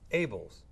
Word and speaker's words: Abeles: my guest today is pete abells but it's spelled abilis that's correct but what's able but